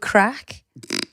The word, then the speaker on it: craic: What about when he says a good crack? That's Yeah, but that's spelled Irish, differently. spelled differently, innit? Yeah. Yeah, with a CRAIC. I-A-I-C. Yeah. crack.